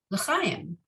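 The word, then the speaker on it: לחיים: So the chet here is that soft guttural ch. So because you don't want to confuse it with the kuf, which is more a k, right?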